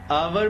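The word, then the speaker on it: our: आर मतलब हमारा। अमेरिकनंस आर को आवर बोलते हैं। आवर भी करेक्ट प्रोनंसिएशन है। करेक्ट बोलने का तरीका है।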